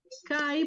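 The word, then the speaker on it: καί: Kai porque es un diptongo y si tiene el acento en la segunda, igual se lee como si estuviera en la primera, ¿cierto?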